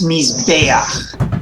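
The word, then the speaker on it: מִזְבֵּחַ: The accent rule, the pronunciation rule for the words that end in kamatz chet is the penultimate syllable gets the accent. So in all of these cases where we end with this ach, it's mizbeach. Together, everyone, mizbeach.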